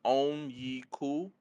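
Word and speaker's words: Onyeka: The pronunciation is Onyiku Okongwu.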